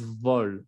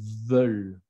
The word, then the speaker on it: veulent: No es vol, es veulent.